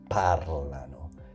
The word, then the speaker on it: parlano: loro, and we get parlano. Pay attention to that pronunciation. Parlano.